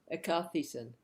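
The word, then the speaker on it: ἐκάθισεν: Anyone can pronounce it? Ekathesen. Ekathesen.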